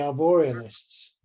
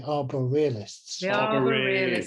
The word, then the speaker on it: Arborealists: and I realized that I have mispronounced their name because they call themselves The Arbor realists yes so we yes